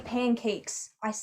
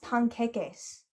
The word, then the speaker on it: panqueques: No, I didn't say pancakes. It's pronounced panqueques.